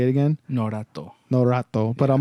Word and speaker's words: Norato: how to say it again know that though no rat though but I'm like I'm singing like Naruto in